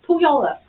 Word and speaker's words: Puyallup: It's Puyallup. No, I tried. it's not. It's spelled that Well, she way.